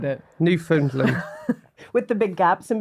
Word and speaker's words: Newfoundland: Newfound land. Oh, Newfoundland. Okay, I think how you said it. Newfoundland.